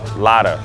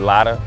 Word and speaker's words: Lada: this paint on this Lada that's how you pronounce it right lotta Dave go man they